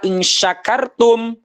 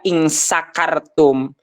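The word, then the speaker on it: إن شكرتم: maknanya ya jadi ee ketika kita melafalkan harusnya menggunakan syin besarlah insyakartum ya malah kita membacanya itu menggunakan Sin kecil in sakartum yang tadinya artinya kalian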